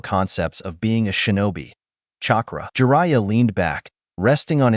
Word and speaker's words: chakra: "No, not Katra, chakra," he corrected, emphasizing the word carefully.